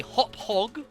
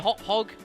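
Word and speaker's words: Hauppauge: hop hog or Le I'm told it is pronounced a a hop hog a uh HD video gaming recorder folks uh PVR 2 I think it is uh um I I am reliably informed um that it is pronounced hop hog um h a u p p a u g e I'm reliably informed it's how it's pronounced um it's certainly not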